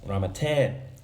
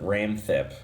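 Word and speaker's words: Ramathep: In Thai it's Ramatep, so Ramatep to flow well in English. But in the trailer they pronounce it Ramthep, which sounds stupid to me.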